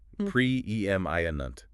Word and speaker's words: preeminent: Our next word is preeminent. P R E M I N T. That sounds important. It is US pronunciation. Prem Iunt.